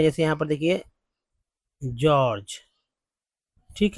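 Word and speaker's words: George: जैसे यहां पर देखिए जॉर्ज ठीक है जॉर्ज जॉर्ज दोनों को ज बोल रहे हैं जी यहां भी जी यहां भी जी दोनों को ज ही तो बोल रहे हैं जॉर्ज समझ में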